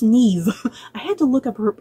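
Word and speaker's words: Niamh: Playing a character named Ellen, we have I think it's pronounced Neve.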